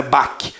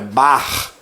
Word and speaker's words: Bach: Tem esse aqui no pronúncio do nome dele, não é Bach, é Bach, certo?